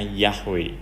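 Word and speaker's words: Yahweh: menyebut nama ini karena nama ini diam tulisan mereka itu yhwh sehingga mereka membacanya yahwe Hai nasinya aku lelah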